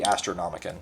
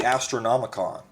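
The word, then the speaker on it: Astronomican: Of course, you know, it's called the Astronomicon, like Necronomicon, or Con, if you prefer that pronunciation.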